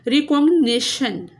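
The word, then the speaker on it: recognition: रिकॉग्नाइजेशन, रिकॉग्निशन, एन आई पे stress है।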